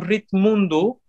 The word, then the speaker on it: Ritmundo: Because R I T M U N D-O. Oh, like world. World, yeah. It's Ritmundo. It's a play game that I did on the word, because ritmo is the word for rhythm, for rhythm in Portuguese.